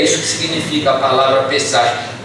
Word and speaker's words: Pesach: Queridos, a palavra Páscoa vem de uma palavra hebraica que se pronuncia Pesach, que significa o que